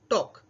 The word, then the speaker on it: talk: यहाँ पर एल का उच्चारण साइलेंट होते हैं, इसीलिए TAL के स्पेलिंग होते हैं, लेकिन हम उच्चारण करते हैं टॉक।